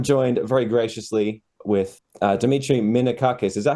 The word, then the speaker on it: Minakakis: Hey guys, this is Jesse with Valley of Death on 4 Z and I'm joined very graciously with Dimmitri Minakus. Is that how you pronounce it, dude?